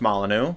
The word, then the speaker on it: Molyneux: It's pronounced Molyneux. You basically had it right.